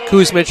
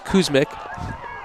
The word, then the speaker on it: Kuzmic: in on the tackle i said coos mitch i apologize as kuzmic i have jessie's